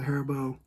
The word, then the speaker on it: Haribo: you can I recommend the hair bow like that's how you pronounce it Haribo gold bears gummy bears